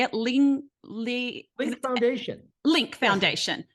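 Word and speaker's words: Lyunk: do you say it Ling Lee with the foundation link Foundation okay l-y-u-n-k but it's but it's pronounced link Foundation okay link foundation so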